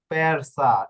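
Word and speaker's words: persa: এরপর দেখুন পেরসা, ঠিক আছে, এস অক্ষরের পূর্বে কি রয়েছে, এই যে এর রে, এটা তো কনসোনান্টেই একটু আগে বললাম। হ্যাঁ, যেহেতু কনসোনান্টে রয়েছে এটার উচ্চারণ স এর মতো হয়ে গেল।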